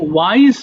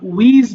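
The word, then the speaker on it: wise: আর thin মানে কিন্তু পাতলা, ক্লিন মানে পরিষ্কার, বিউটিফুল মানে সুন্দর, রিচ মানে ধনী, এবং ওয়াইজ মানে জ্ঞানী। দেখো এটা অনেকে ভুল করে আমরা উইজ বলে ফেলতে পারি, এটা ওয়াইজ হবে।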